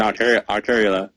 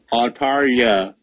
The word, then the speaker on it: Altaria: I'm like, hey, we got new megas, Salamence, Lopunny, and Arteria. Dang it, I can't say it right. Altaria. There we go. The skills.